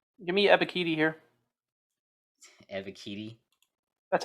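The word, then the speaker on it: Ebiketie: yeah i think they're going to take him give me a bikini here eva kitty that's how they say it on uh that's how bengal pronounces it unreal even though they didn't play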